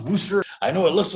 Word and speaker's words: Worcester: Yes, that is pronounced Worster.